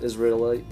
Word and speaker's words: Israelite: Israelite.